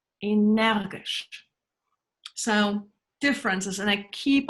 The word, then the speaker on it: Energisch: Think how it's pronounced in German. Energisch. Energisch.